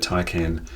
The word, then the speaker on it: Taycan: Whenever I hear the pronunciation I think it is, I hear a different pronunciation. I'm calling it Taycan. Maybe you do too.